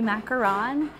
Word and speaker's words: macaron: So the real French way to say it would be macaron for these, and then the coconut domes, the American version, that would be the macaroon, spelled with 2 O's.